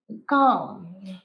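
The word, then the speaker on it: calm: কাম কাম এটার প্রোনাউন্সিয়েশন কাম এলটা সাইলেন্ট মনে রাখবে এই এলটা সাইলেন্ট উচ্চারণ হয় না তাহলে প্রোনাউন্সিয়েশন কাম কাম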